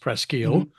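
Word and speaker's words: Presque Isle: a few miles from presle which the French pronounced presil um and Fort labuff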